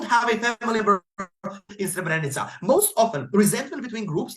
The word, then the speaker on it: Srebrenica: Opening opposition cannot set their case in that way, and yes, it's pronounced Srebrenica if you want to run that example.